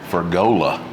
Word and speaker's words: Fergola: All right, we're back cooking with our good buddy, Fergola. There you go. Look, I pronounced his name right again on camera.